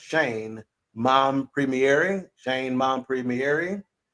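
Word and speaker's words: Shein: was the one and only Shane and it's pronounced Shane mom premiering Shane mon Premiere uh she's a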